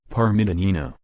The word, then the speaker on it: Parmigianino: as Francesca Matt sola or more commonly as Parma janina Italian pronunciation Parma danina the little one from Parma January 1115 no